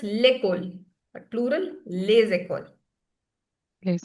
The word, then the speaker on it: l'école: In singular, it's l'école.